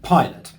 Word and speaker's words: pilot: The two words are toilet and pilot. Both words are two syllables and the stress in both words is on the first syllable.